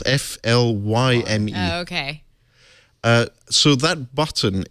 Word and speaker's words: Flyme: But I think Meizu have done something quite innovative with their operating system, which is called Flyme or Flyme, depending on your pronunciation. Is it spelled Flime? It's Flyme.